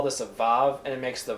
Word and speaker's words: vav: doing this, we're going to call this a vav, and it makes the v sound, which is the same sound as a bait without a dagesh.